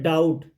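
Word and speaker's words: doubt: silent है यहां पर डाउट तो बी साइलेंट है नो तो के यहां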